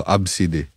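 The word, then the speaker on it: Abcde: ganon tapos sabi ko ano yan paano i-pronounce yung pangalan mo absid daw abside abside nung bata nga ako tol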